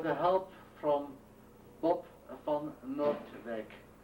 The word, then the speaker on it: Noordwijk: help from Bob van Noordwijk. Noordwijk is spelled N-O-O-R-D-W-I-K. Actually, it's a Dutch I-J.